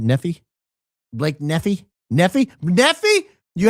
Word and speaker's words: Nephi: Uh, number one fan and friend from Nei, Utah. Did I pronounce that right? Nephi.